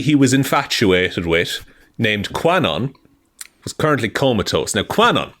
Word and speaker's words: Kwannon: You're also doing a very good job not saying QAnon every time you say Quanon, just to let you know.